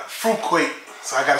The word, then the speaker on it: Fruit Quake: is Mountain Dew Fuquay I used to say fruitcake but I say food court you know like fruit Quake so I gotta say it right instead of